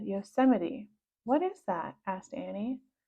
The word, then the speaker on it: Yosemite: read a single word on both covers Yosemite Yo's might said Annie Jack laughed now it's pronounced Yosemite he said Yosemite what is that asked Annie I've heard of